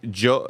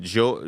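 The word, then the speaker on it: Jeux: Uh I still don't know how to pronounce it chat. Let me know uh phonetically. Joe, it's J E UX. Is it Joe?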